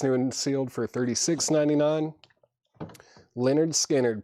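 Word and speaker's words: Lynyrd Skynyrd: Leonard Skannard, pronounced Leonard Skannard, $36.99 on that.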